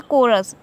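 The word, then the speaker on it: chorus: हाँ यहाँ पे कोरस तो यहाँ पे H जो है हमारा क्या है साइलेंट है, कोरस।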